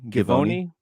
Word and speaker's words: Givony: So there was a story that came out, ESPN, Jonathan, do you know how to pronounce his last name? Givony. Jonathan Givony.